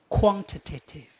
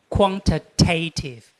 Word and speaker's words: quantitative: Quantitative. This is an American way of pronouncing this one. Quantitative because American people like to read t a tiv like a tative.